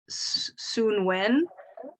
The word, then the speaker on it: Samhain: I mean, of course, most people will know that Halloween is All Hallows Eve or I don't know how to say it. Samhain, or I've seen it pronounced like Soonwen. Soonwen.